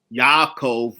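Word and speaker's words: יעקב: yaku now of course it's written in English as Jacob but none of them spoke English in modern Hebrew it is Yakov but they didn't speak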